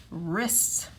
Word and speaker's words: wrists: front of it and remember we do not hear the w we just hear the uh wrists then we're going to